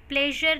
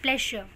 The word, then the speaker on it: pleasure: प्लेजर नहीं है ये. मोस्टली लोग क्या प्रोनाउंस करते हैं? प्लेजर. This is नॉट प्लेजर, इट इज प्लेशर. प्लेशर. इट्स माई प्लेशर. इट्स माई प्लेशर. So this is प्लेशर, नॉट प्लेजर.